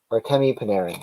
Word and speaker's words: Artemi Panarin: And we have an all-world Artemi Panarin.